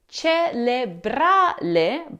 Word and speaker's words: cerebrale: So the first syllable is pronounced cere, not cele. The difference here is the re with an R and a le with an L.